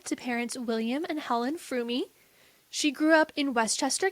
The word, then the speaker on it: Fromme: Lynette Alice Froomie. A lot of people don't pronounce the E, but according to her biographer, the E is not silent.